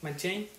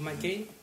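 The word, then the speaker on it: M'Cheyne: Ustedes saben o conocen a Robert Murray, Machin o Mcin, depende cómo lo pronuncien.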